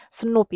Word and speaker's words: snRNP: SNOP ya, dibacanya SNOP.